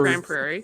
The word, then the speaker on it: Grand Prairie: way yep nobody ever grand prairie spelled that way and it's said that way yeah and it's the